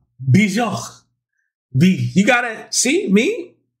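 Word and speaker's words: Björk: And I was like, all right, you know, let's check out Yorkie? No, that's a dog, right? No, not like Bjork. Let's check out, let me get the pronunciation right. Bjork.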